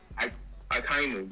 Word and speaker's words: Akainu: How do you pronounce his name again? Akainu? Akainu, yes.